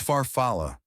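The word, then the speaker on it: farfalle: "It's farfalla.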